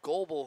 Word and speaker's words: Goebel: I mispronounced the name there. That's Cole Goebel, who was caught in the scrum with Hayden Flynn.